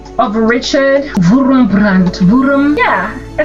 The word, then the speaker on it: Richard Wurmbrand: So go check out Dietrich Bonhoeffer, and I actually want to give the proper name of Richard Wurmbrand.